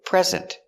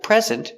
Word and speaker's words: present: are guilty very good another example present it's a noun it's a thing here is your present your gift stress on the first syllable present here is a present for you a christmas present for you and the verb present put the stress on the second syllable present she is going